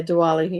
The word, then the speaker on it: Diwali: Yeah, Diwali.